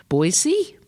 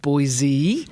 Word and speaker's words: Boise: This is day 2 of the VRNation conference in Boise. Idaho. I was pronouncing it Boise, and I got told very quickly that that is not the way to pronounce it.